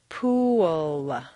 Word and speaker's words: pool: unintelligible to your listener for Clear comprehension you need to say three syllables pool where did that W come from it's certainly not written down anywhere but it is there just as definitely as the p is there the second example is